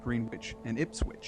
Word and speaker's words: Greenwich: pronounced in Massachusetts it's green witch yeah yeah they don't say it's actually green wi it's not Greenwich so in Mass Massachusetts it seems to be with a with a W in there but even if you